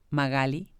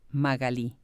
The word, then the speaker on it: Magalí: Echevarne, platicamos acerca de cómo yo pronuncio su nombre, Magali. Y en otros países de Latinoamérica me dice ella que así lo pronuncian y cómo ella la llaman en Argentina, Magalí.